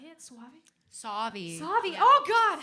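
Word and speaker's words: Sauvie Island: She was born on Suave Island. Is that how I say it? Suave? Savi.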